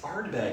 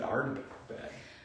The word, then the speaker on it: Ardbeg: it right there mhm are you saying it right and I'm saying it wrong up there Ardbeg oh it's Ardbeg that's what I said